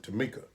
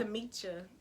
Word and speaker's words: Tamisha: That's what a lot of people say, but It's a pretty name, because most people when they see it they pronounce it Tamika. yeah. But or you don't. Tamisha.